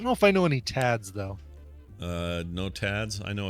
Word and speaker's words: Thad: Is that pronounced Tad? Yeah. Oh, I didn't know that. I don't know Well, any I mean, Vlads. they can choose how they pronounce it, but I've always thought that THAD is still pronounced Tad.